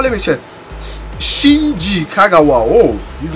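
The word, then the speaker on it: Shinji Kagawa: packs oh how you say his name though chin kagwa let me check Shin Kagawa oh his name is too strong oh my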